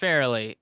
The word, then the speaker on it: Farrelly: It's just Farrelly.